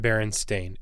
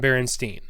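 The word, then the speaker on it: Berenstain: to people about them no one's pronounced it baron stain ever it's always been berenstein and parallel universe i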